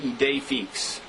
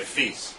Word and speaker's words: idée fixe: He just writes, idée fixe is pronounced idée fixe. Well, isn't that what I said? I don't know. No, I said feast.